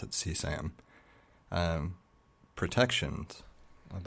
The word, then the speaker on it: CSAM: And I think they actually just generally pronounce it CSAM.